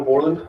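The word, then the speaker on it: Bourland: My name is Borland. It's spelled K Y L E B O U R L A N D.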